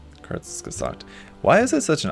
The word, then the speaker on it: Kurzgesagt: Pronounced like Kurzgesagt. Okay. Kurzgesagt.